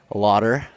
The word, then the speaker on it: Laughter: So anyways, I'm joined here by Lauder. Did I pronounce that Yeah.